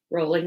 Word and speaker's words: Rowling: Potter and the Sorcerer's Stone by JK Rowling Rowling Lee bowling remember how to say her name